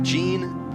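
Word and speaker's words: Yean: Eddie Jean, Y-E-A-N, but like so many Latin American and Spanish-speaking countries, the Y is actually pronounced as a J.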